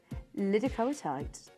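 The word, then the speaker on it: Liddicoatite: Hang on, how do I pronounce this, please? Lidocoatite. Lidocoatite tourmaline.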